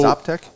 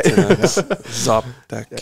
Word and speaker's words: Xoptek: So Xoptek. Okay. That's another starts one. Starts with an X. It's pronounced like a Z. That's an X. Okay. Xoptek, yeah.